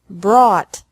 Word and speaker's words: brought: is the same bring brought brought buy bought bought catch caught caught fight fought fought seek sought sought thought teach taught taught think thought thought remember that the g is silent in these verbs verbs with three different